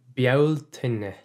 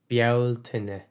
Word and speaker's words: Bealtaine: So let's slow down a little and do the pronunciation. Bealtaine. Bealtaine is May, and Mi na Bealtaine is the month of May.